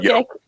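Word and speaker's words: Jokić: Jokic. Like yoke. Like get the yoke.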